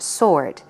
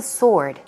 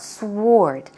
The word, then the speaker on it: sword: all what is a sword the pronunciation for that is sword it's not sward SW Ord but the W is not pronounced so it sounds like SOR T sword sword swords are these